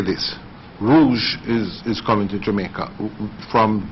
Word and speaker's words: Rouge: The new leisure airline out of Canada into Kingston, Rouge, is that how it's pronounced? Rouge.